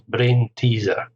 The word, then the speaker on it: brain teaser: 3 syllables, brain teaser. Stress on the second here, brain teaser.